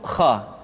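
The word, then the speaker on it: خ: Selanjutnya adalah huruf kha. Kha dikeluarkan dari pangkal tenggorokan. Kha, pangkal tenggorokan. Diucapkan dengan mengalir nafas. Atau lebih praktisnya, pengucapan huruf kha persis terdengar seperti orang yang tidur dalam keadaan mengorok.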